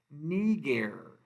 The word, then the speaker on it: niger: That I is a long I, so we're going to say this with an E sound. Niger, nigra, nigrum, and this means black.